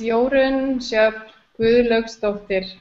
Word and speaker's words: Jorunn Gudlaugsdottir: My name is Jorunn Gudlaugsdottir.